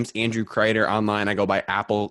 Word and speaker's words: Crider: my name is Andrew crater online I go by Apple crater spelled like cider with an R and I got into